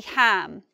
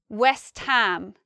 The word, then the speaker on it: West Ham: And here we have an exception. These are all but this one is actually ham. West Ham. West Ham is another football club in London. The reason we say ham here and not Westham